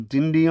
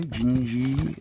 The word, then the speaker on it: Dindi: But he does have a version of Dindi on there or Gingi I should say. Gingi, the way I think it's supposed to be pronounced, uh, in Brazilian, uh, Portuguese, Brazilian. Um, because you can see it's written by aim.